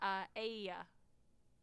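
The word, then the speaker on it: Aeaea: Pronounced Aia. Aia? Okay. Aia, yeah.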